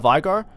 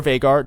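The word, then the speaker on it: Veigar: Next we have Vigar or Vagar, depending on how you say it. Google says it's Vigar, people say it's Vagar. I just say both.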